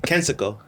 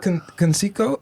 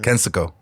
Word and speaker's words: Kensico: How do you say it? Kensico. Not Conseco? No, it's the Kensico Dam. Kensico.